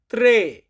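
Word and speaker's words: tre: তিন এটার ইতালিয়ান ভাষা হবে ত্রে।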